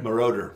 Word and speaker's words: Giorgio Moroder: uh I'm gonna up this pronunciation Giorgio morador Mordor moroder moroder yeah that's easy just like it says